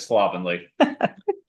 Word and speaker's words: slovenly: A sample sentence is, on my best day, my style could be described as slovenly. Thank you. All right. Thank you, Madam Toastmaster. Rhymes with lovingly.